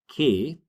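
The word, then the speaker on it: hoy: So, in Spanish, we say koi.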